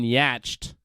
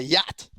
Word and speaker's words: yacht: that's right I mean at least you're not saying yatched I'll give you that go again it's a yacht do you know how